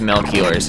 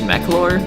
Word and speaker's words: Melchior: I'll save outside of Mel Keeler's house I used to always pronounce this McClure gotta get that sick